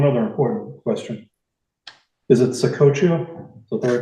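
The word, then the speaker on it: Ottauquechee: Is it Ottauqueche? Is that the right Yes, it is.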